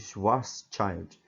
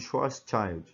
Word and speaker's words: Schwarzschild: seja a pronúncia correta mas eu eu vou pronunciar desse jeito raio de schwarzschild esse raio-x westshire ilustrados nessa figura aqui ó